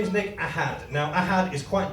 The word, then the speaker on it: Ahad: my name is Nick I had now I had is quite difficult then I know this because if you miss pronounce all my life my teachers pronounced it our hat I'm from a place